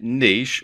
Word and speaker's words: niche: sites choosing the right Niche or niche as some people pronounce it for your membership